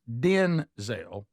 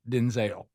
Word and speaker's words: Denzel: His his name is pronounced Denzel, not Denzel.